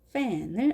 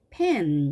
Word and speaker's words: fan: 자, 이렇게 썼지만 실제로는 치아를 위에 이빨이 아래 입술에 살짝 얹어 있는 상태에서 이렇게 발음해 주신다고 했습니다. fe 이렇게 되겠죠? fe. 자, fe 이렇게 되겠습니다. 자, 그 다음에 이 왔습니다. 그러면 한꺼번에 합해서 페, 하니까 fan 이렇게 되겠죠. fan. 잘못해서 이것을 pen 이렇게 하다 보면 우리가 계란 후라이